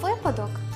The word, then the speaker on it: випадок: немає жодних підстав слово випадок у літературній мові завжди мало і має тільки один наголос на першому складі воно належить до цілої